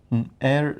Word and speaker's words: heir: it because i don't know what you are pronouncing it h-e-i-r h-e-i-r i seriously don't know air like in order to what we say varus